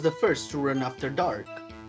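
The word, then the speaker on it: Darke: first to run after Dark how the how the hell how do I say this name and it's it's just dark I think the E is silent yeah yeah I think so I I don't I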